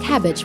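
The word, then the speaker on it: Kabbage: include PayPal, Square, and Cabbage, which is pronounced cabbage with a K.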